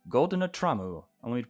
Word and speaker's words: GoldenerTraum: All right, everybody, that's going to be it for Pocket Mirror GoldeneTraum. GoldenerTraum. I want me to pronounce it in Japanese, even though it's not.